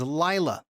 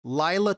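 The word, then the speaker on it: לילה: Delilah sounds very similar, or sounds like and is spelled just like the Hebrew word for night. The Hebrew word for night is Lila. So if you want to say good night, Lila Tov.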